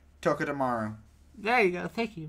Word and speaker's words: Togedemaru: Tokidomaru. There you go. Thank you, my friend. I wouldn't be able to say it correctly. Togedemaru.